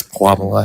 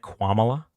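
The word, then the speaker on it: Kamala: having or I guess Quamala having less votes than Joe Biden? Is there a reason that you pronounced it quala? Oh, my bad. I It's Midwestern accent.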